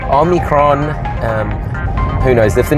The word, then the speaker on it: omicron: dominate so it's good they don't call it omnicron which a lot of people are pronouncing because omni kind of means everywhere so omicron um who knows if